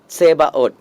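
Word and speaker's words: Tzebhaoth: So you pronounce it's Sebaot.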